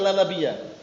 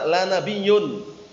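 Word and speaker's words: لا نبيَّ: Ada juga kelompok sesat yang mereka bacanya bukan la nabiyya. Bacanya apa? La nabiyyun.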